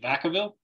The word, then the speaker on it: Vacaville: I said it wrong last name, is it Vacaville?